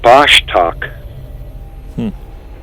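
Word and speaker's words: Vostok: To pronounce it, it's pronounced Bashtak.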